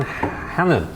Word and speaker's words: Hanan: Actually, you'll need to Google that because that's a very very well-known brand because we're here with Karen Hannon.